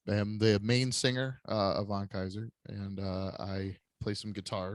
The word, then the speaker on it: Kaiser: So we're going to be talking to Kaiser. Am I pronouncing that right?